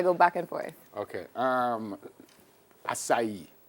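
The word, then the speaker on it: açaí: did I told her I'll cry but it's acai acai balls look like ice cream almost tastes like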